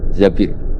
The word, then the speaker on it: Zabir: sama Abdurrahman bin Zabir di hadis ini bukan bacanya bukan Zubair tapi Zabir Abdurrahman bin Zabir tapi orang Arab itu